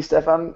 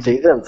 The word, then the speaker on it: Stefan: Oh, I said that, and then I was with Anthony Ferrer, and he corrected me. I was like, okay, I'll pronounce it Stefan if I have to.